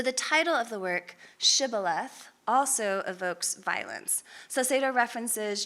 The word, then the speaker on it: Shibboleth: asking them to say Shibboleth. And unable to pronounce the sh sound, the Ephraimites are exposed and killed when they say Sibboleth instead.